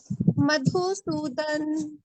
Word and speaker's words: मधुसूदन: मधुसूदन ना बोल रहे हैं ना, आकार तो नहीं है। हाँ, आधा नहीं, ऐसे तो मधुसूदना बोलना है ना, संस्कृत सूदना। में pronunciation ऐसे होगा मधुसूदन, संस्कृत के हाँ, हिसाब से पढ़ते तो आधा न नहीं, इसलिए पूरा बोलना है मधुसूदना।